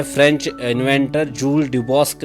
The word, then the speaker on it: Duboscq: तो एक French inventor थे, उनका नाम था जूल्स ड्यूबॉस्क। क्या नाम था उनका? जूल्स ड्यूबॉस्क, DUBO, और इनके नाम की स्पेलिंग बहुत ज़बरदस्त है यार, SCQ है ना, D है ये लिखा हुआ, P नहीं है, DUBOSCQ।